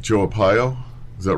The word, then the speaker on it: Arpaio: It's like guys like Joe Arpaio. Is that right? Is that how you pronounce it? Joe Arpaio.